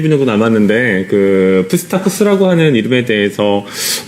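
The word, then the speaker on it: Psittacus: 그래서 앞쪽에 P가 있고 뒤에 S가 나오는 그 형태의 발음에서는 기본적으로는 원칙적으로 P하고 S를 다 발음합니다. 그래서 푸스타쿠스라고 발음합니다.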